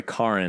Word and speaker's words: Karen: documentaries and that's Kin I'm sorry Karin Karin yeah I'm gonna always call her Karen because it's spelled Karen and I'm American right but Kar straight car and but yeah like so